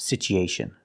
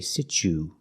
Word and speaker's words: situation: The word is not pronounced situation. We don't say situation, we say situ. The U is pronounced with a long oo sound. Oo. Together, situ. So the T makes a ch sound, like chicken.